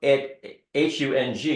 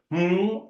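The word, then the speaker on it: hūṃ: When you're saying hung, H-U-N-G, you're putting an N, Right. So it's hum or hung.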